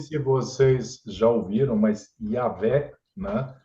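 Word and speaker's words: Yahweh: vocês já ouviram mas yavé né do jeito que deve ser pronunciado é é puxando V sim isso esse som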